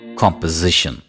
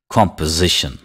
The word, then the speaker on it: composition: after me component component composition composition composition composition the stress is on the first syllable repeat after me composition